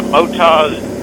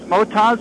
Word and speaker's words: Motoz: The Motoz Tractionator GPS. Is it pronounced Motoz or Moto Z? Yes. Depends on who you ask.